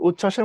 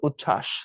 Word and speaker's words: উচ্ছ্বাস: তার সিস্টেমও আছে তো বফলা যুক্ত ব্যঞ্জনের সাথে যুক্ত হলে তার কোন উচ্চারণ হয় না তো উচ্ছ্বাসের মধ্যে দেখো দুইটা ছ